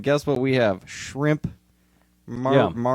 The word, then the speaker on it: Maruchan: Maruchan. The Mexicans called it Maruchan. Maruchan, and I love that because we called it Moochin in Minnesota. We just didn't even try to pronounce it.